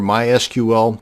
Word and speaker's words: MySQL: how to create a mySQL database and yes it's pronounced MySQL not my SQL so the next time